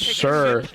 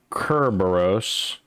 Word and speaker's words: Cerberus: Cerberus is most commonly pronounced in English as Cerberus, with a stress on the first syllable and a soft C. While derived from the Greek Kerberos, which uses a hard K sound, the English pronunciation is softened to an S sound over time.